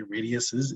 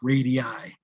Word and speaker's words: radii: the radii or radiuses we don't say radiuses it's radii radii is spelled like